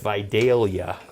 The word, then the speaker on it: Vidalia: day our Vidalia onions I learned that is how you really pronounce them if you're from the south because I heard somebody recently said say I got some Vidalia onions and the guy said no you couldn't because they're pronounced Vidalia so now I'm gonna